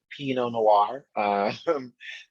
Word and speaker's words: P.No Noire: Hi, I'm P.No Noire. Pronounced like the wine, but spelled not like the wine.